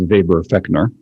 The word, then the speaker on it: Weber-Fechner: feckner also heard it it's pronounced as Weber feckner depending on how German you are I guess yeah and